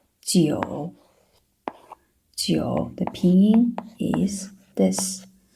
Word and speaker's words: 九: Some of the students would read this one like 猪. It's a bit like the pronunciation of this English word 猪, right? 猪, but it's actually 九.